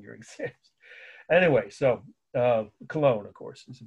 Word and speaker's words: Cologne: method of taking your exams anyway so uh cologne of course is the pronunciation so why is this the one Cathedral